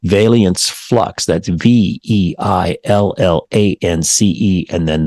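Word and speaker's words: veillance: and high-speed trains rests on technology influenced by Valiants and I hope I'm pronouncing this right Valiants flux that's v-e-i-l-l-a-n-c-e and then the word flux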